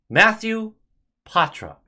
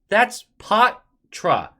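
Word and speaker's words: Poitras: Matthew Patra. That's Patra. That's how he pronounced it.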